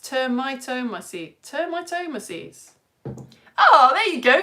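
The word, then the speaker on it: Termitomyces: It is pronounced termitomaces.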